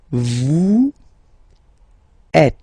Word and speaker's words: vous êtes: Vous êtes. Same thing here. Notice that final S is not pronounced.